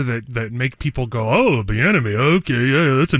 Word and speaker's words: Bieniemy: We're putting names in there that make people go, oh, Bieniemy. Okay, yeah, that's a name I've heard before. And they already know who they're hiring. And it rhymes with schmatterschmay.